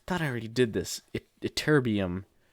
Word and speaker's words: Ytterbium: Ytterbium. I think I'm pronouncing that right. Let's make sure. Ytterbium. Ytterbium. I said that right.